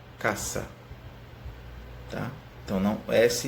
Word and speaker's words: casa: tem a diferença tá o esse sempre vai ser próxima pronunciado essa e como se fossem dois ésses tá então ele nunca vai ter só um dizer você vai escrever casa mas vai ler caça ah tá eu não